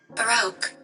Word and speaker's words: Baroque: So I'm going to have just do pronounce it. What is it? Baroque.